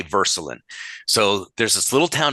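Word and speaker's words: Würselen: little German town called Verselin. and it's spelled with a W, but you say Verscelin.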